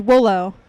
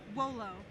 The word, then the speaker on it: Wolo: Next is Wolo. Willow? Wolo. Rolo? Am I pronouncing that correctly? Rolo. W-O-L-O. Judge Deere is stumped. Voltron Force. Wolo. One more time? Wolo? Wolo.